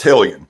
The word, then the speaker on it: Hellion: He says it's Hellion, like raise hell.